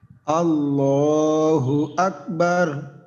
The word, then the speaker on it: আল্লাহু আকবার: রাহিম আল্লাহু আকবার হ্যাঁ ল এক আলিফ যেন হয় আবার তিন আলিফ চার আলিফ না ওই যে যেহেতু খাড়া জবর আমরা বলছি উচ্চারণে এখানে আল্লাহু আকবার ল যদি আরো মোটা করা সম্ভব হয় আমরা মোটা করবো ল্যা আল্লাহ আল্লাহু আকবার